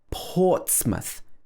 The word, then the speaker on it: Portsmouth: it's not stressed so it's not pronounced mouth it's pronounced for example portsmouth the first part of the word is stressed ports so it's like port and then it's muth watch the th sound